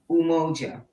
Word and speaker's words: Umoja: in our language english unity unity would you spell that for the community please the listening community okay very good mojo mojo u m o j a um that is the first principle umoja now